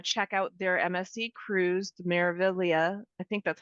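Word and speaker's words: Meraviglia: out their msse Cruis marilia I think that's how you say it it's kind of tricky it's got a silent G in there like lasag well and I think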